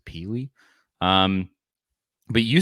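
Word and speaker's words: Pili: coming to Tennessee Keenan peely p-i-l-i I believe that it was how you would probably pronounce it peely um but you said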